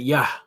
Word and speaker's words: Yah: a ya and a ha so we would pronounce that ya so now listen to how he pronounces it